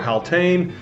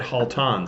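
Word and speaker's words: Haltane: about this fragrance and he pronounced it Halton so I've probably been pronouncing it wrong up to this point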